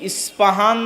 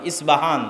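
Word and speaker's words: Isfahan: আমরা প উচ্চারণ করি। ইসপাহান আরবিতে এটা উচ্চারণ হয় না। আরবিতে হয় আল আসবাহানি বা উচ্চারণ হয়। ইসবাহান বা আসবাহানি।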